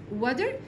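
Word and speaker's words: water: يشرب ميه درينك وا التي في كلمه ودر بنطقها كانها دي كده ساوند بنطقها كانها دي كده علشان هي حرفين متحركين خلي بالطقش يعني تمام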